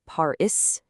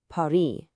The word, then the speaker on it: Paris: It's there in the spelling, but it's silent. So, a word like Paris isn't Paris, it's Paris. The word petit isn't petit, it's just petit.